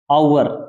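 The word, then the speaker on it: hour: क्या होता है घंटा इसमें एच है वो क्या है साइलेंट है एच का उच्चारण नहीं होता इससे पहले आप आर्टिकल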